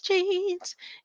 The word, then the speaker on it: Gene: Jean Kim, her name is spelled like Gene, not in these genes. It's Gene, like DNA, genetics.